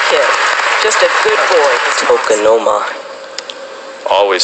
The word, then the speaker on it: tokonoma: Tokonoma. Always spelled how it sounds. T-O-K-O-N-O-M-A.